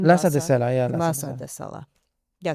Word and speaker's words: Lhasa de Sela: Is that how you pronounce her name? Lhasa de Sela, yeah.